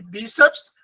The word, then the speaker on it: bíceps: Médico, últimos e bíceps. Lembra que o seps é uma sílaba só, bíceps.